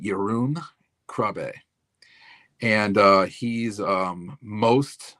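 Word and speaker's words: Jeroen Krabbé: So, you have I think it's they he pronounces it Yun Krab and uh he's um most known for being Dr.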